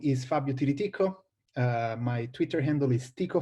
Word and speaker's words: Tiriticco: this very difficult times my name is Fabio Tilly Tico my twitter handle is Tico fob it's a lot easier to pronounce than my family name I come from